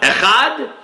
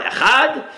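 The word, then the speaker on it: אֶחָד: it, Yemenites and Moroccans, the dalet without the dot in the middle, without the dagesh, is not pronounced as a D, it's pronounced more as a the, like a TH sound, in which case you can drag it out, right?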